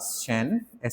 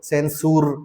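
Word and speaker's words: censure: सेन-शुर, सी ई एन और एस यू आर ई, इसे इस तरह बोलो, निंदा। क्या शब्द है, बेटा? निंदा। निंदा, सेंसर। ऐसा मत कहो।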